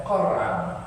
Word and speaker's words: Qur'an: Qara'a fi'il madhi, yaqra'u fi'il mudhari', Qur'an. Tapi dibacanya Quran.